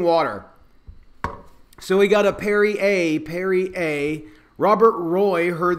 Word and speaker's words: Perrier: back to me but parry air Perrier / what is it it's odd to me that it's spelled that way and people tell me that I'm wrong it's Perrier so if it's Perrier